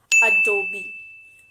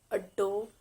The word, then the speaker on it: Adobe: american computer software company it's adobe adobe not a dope it's adobe the next brand